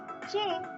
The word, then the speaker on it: che: Now let's take a closer look at CH, which is pronounced as che, che. Although traditionally considered a combination of C and H, che is often treated as a separate letter in Spanish.